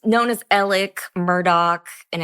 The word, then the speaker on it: Alex: Yeah, it's Alec.